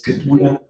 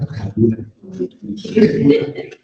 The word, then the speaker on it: Kaduna: It's Kaduna, not Kaduna. So it's good to learn to pronounce these things properly.